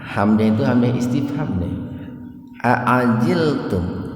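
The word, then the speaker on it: أعجلتم: Aajiltum. Aajilum. Nah, ini perpaduan antara huruf hamzah dengan ain. Jadi jangan bacanya jangan begini. Aajiltum atau jangan aajiltum gitu. Aajil. Aajilum. Hamzah baru naik.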